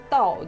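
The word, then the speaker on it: 倒: Et on le colle surtout à l'envers, c'est parce que en chinois, à l'envers se prononce tao, donc c'est la même prononciation que arrivé. Oui, et donc le bonheur est arrivé.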